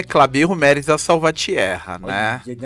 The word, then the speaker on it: Clabijo: o nome do cara pode falar a minha pronúncia não é das melhores clarídrico mérida incrível e uma salva de Palmares falou o meu nome é clabigo Meres da salvatierra né o nome né espanhol